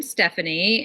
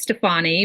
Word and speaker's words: Stefani: my name is Stephanie and that is the true pronunciation A lot of people think it's Stefani but Steph in Italian